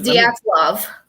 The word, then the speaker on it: Dyatlov: like translate not translator but like the google pronounced that's a good i should have done that yeah it's diaz love thank you for that yeah you lost me